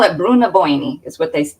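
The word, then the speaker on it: Brú na Bóinne: yes yes so and they they call it Bruna boini is what they how they say it when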